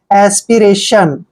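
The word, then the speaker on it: aspiration: का चण र करेंगे ए को ए की मात्रा पढ़ते हैं और टी आई ओ एन चारों लेटर इकट्ठे आते हैं तो इसको हमेशा हम सन पढ़ते हैं एस्पिरेशन एस्पिरेशन होता है लालसा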